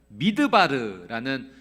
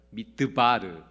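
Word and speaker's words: מִדְבָּר: 미드바르라는 단어를 사용하는데요, 이 광야와 같은 어근을 사용하는 단어가 하나 더 있습니다. 그것은 말씀이라고 하는 다바르라고 하는 단어예요. 그러니까 같은 어근을 쓰니까 발음이 비슷하죠. 미드바르, 다바르.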